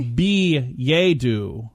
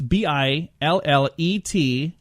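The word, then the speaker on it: billet-doux: Or billet-doo. There's a couple ways if you want to pronounce it the French way. I'm going to say billet-doo. Billet-doo. That's the way I'm going to say it. It's billet-dous.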